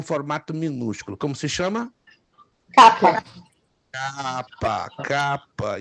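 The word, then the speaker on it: κάππα: Capa. Capa. E aí a pronúncia não é complicada, porque ela se assemelha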